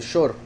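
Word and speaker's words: שור: Shur se escribe exactamente igual que Shor, solo que se pronuncia diferente. Shor y Shur con Vav, ¿verdad? A veces como O, a veces como U.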